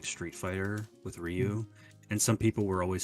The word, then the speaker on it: Ryu: saying no it's pronounced Rue like Rue no it's not Rue yeah it's definitely not rude like do you the the r is not even it's like a d basically I know it's kind